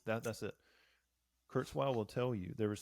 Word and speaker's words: Kurzweil: the graveyard like Kurtz oh gosh I cannot pronounce that man's name Kurzweil that's it Kurzweil will tell you there was something intrinsically human